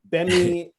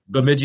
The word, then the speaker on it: Bemidji: I mean, I think I can't pronounce it. You probably will. Bemidji. Bemidji State. Bemidji.